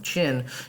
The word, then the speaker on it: Qin: simple to continue our china unit we will be moving into the qin dynasty that qin word um is pronounced chin and we will be